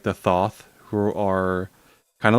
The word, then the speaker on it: Thoth: Uh it's Thoth, not Thought.